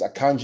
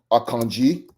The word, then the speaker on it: Akanji: we're gonna play here akanji just for you out there it's pronounced akanji not akanji akanji it's a Nigerian name uh Thai would bear